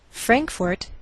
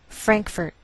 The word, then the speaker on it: Frankfort: Frankfort, Kentucky. Now some Americans may change the second syllable of the capital, and you may hear Frankfurt. Do you hear the difference?